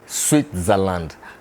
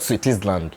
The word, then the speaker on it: Switzerland: and by the way the country is called switzerland not sweeties land like i was pronouncing it before i came here so the yamaha cs